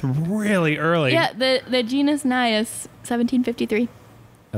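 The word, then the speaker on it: Najas: So the J would be a Y sound, so Nias is correct.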